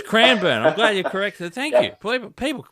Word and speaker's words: Cranbourne: as a golf club so I say cran bur sorry cran I pronunciations like like like the Yanks say Melbourne we say Melbourne okay yeah okay so it's cranber okay y I hate